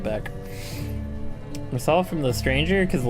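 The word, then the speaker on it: Meursault: Mersault from The Stranger, because the Olympus Company's story is based on several books. Oh, it's pronounced more salt.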